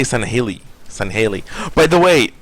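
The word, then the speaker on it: Sangheili: all these voice actors who do not know how to say Sanheli properly, who are saying Sanhaili. I'm just like, man, like, listen to your directors. We know better than you. Don't try to pronounce Sanheli the way you want to. Say it properly.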